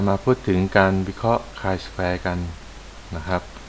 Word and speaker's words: chi-square: K square นะ ครับ อ่าน ว่า K square นะ ครับ ไม่ ใช่ T square นะ ครับ อ่า ซึ่ง อ่า บาง คน นะ ครับ อาจ จะ อ่าน ผิด นะ ครับ ถ้า หาก ไม่ เคย มาเรียน ก่อน ก็ จะ อ่าน ว่า t square ซะ ส่วน ใหญ่ นะ ครับ ดัง นั้น